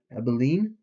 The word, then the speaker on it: Abilene: Abilene?